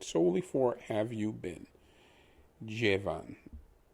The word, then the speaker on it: llevan: The LL is pronounced as a J or as a J. So where you see the LLE, it's technically pronounced like JE, J. Like Jennifer, J. Van, V-A-N, is much, pretend the A is actually an O in English. It would be Von, such as the typical name Von Smith, etc. So Jevan.